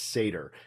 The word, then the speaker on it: Seidr: ball on this um the actual pronunciation of the title is seder um it's mentioned in